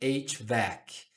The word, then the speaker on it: HVAC: A gente pronuncia aquilo como HVAC.